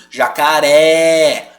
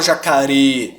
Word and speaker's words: jacaré: acentuado com acento agudo jacaré Eu não falo jacare Jacaré tá bom Por isso